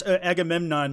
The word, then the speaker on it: Agamemnon: Lana says, No, you said it wrong. That's Agamemnon.